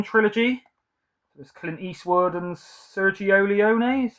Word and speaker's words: Sergio Leone: There's Clint Eastwood and Sergio Leone, is how you say it, I think.